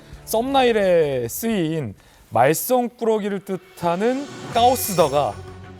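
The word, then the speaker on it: 高市: 근데 재밌는 게 썸나일에 쓰인 말썽꾸러기를 뜻하는 까오스더가 이 다카이치 총리의 중국어 발음 까오스와 비슷한 것도 굉장히 의도적이다. 그러니까 다카이치 총리의 이름의 중국식 발음 까오스와 중국어 말썽꾸러기를 뜻하는 까오시다 어떻게 합니까?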